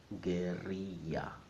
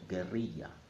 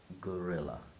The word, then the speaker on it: guerrilla: However, in Spanish, it's not pronounced like that. In Spanish, it's pronounced guerrilla. So if you're speaking in Spanish, you must pronounce it as it is in Spanish. So guerrilla, not gorilla.